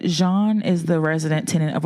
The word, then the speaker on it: Jean: Jean. Right? Did I say it right? Yeah. Okay. you said that earlier. I was going to say Gene.